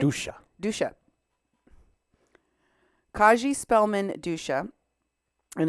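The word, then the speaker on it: Dousa: Dusha.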